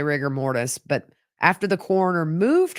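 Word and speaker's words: rigor mortis: her arms she had ryer mortise riger mortise there's a debate on how you say it I say rigger mortise but after the coroner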